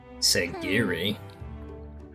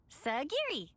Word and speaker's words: Sagiri: Sagiri? I know it rhymes with onigiri, but what was the actual reason?